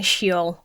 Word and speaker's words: Sheol: In the Hebrew Bible, you have Sheol, which I'm probably pronouncing that wrong, so I apologize. Do you know what? I should look it up instead of just getting it wrong. Okay. Pretty much everybody seems to be saying she-ole.